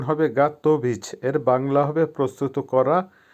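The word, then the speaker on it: готовить: দাঁত দেওয়া বা গিভ ভার্ব গাতভিচ আবারো বলছি উচ্চারণ হবে গাতভিচ এর বাংলা হবে প্রস্তুত করা বা রেডি করা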